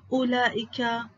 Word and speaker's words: أولئك: كلمات فيها ألف تنطق ولا تكتب: ألف المد الموجودة في أسماء الإشارة كهذا، هذه، هذان، هؤلاء، ذلك، كذلك، أولئك. إذن عزيزي الطالب هذه الكلمات نقوم بلفظ الألف ولكن لا نكتبها. ألف المد في الضمير المبدوء بهمزة مع هاء التنبيه: ها أنتم، ها أنتما. ألف المد في الله، الرحمن، إله، لكن، طه، التنوين.